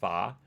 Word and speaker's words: pho: was I going oh yeah I love I pronounce it pho but I understand it's really pronounced PAH Vietnamese soup the noodle soup with I love